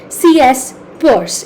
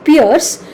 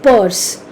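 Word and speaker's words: Peirce: by an American philosopher C.S purse it is spelled as p-i-e-r-c-e Piers but it is pronounced as purse CS purse basically uh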